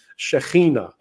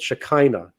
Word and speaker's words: Shekhinah: And in that Temple Mount, right, we talk about something called the Shekhinah. And I know I've spoken to Christians, and they use a word called Shekinah. Yeah, because they can't pronounce it, or they don't want to.